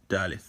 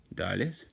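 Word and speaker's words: דָּלֶת: Daleth, and it is pronounced as the letter D. Now, when it has the dot, it's pronounced as that letter D. If it does not have that dot in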